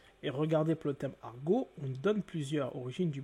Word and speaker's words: argot: Quand vous dites argot, le T en français n'est pas prononcé.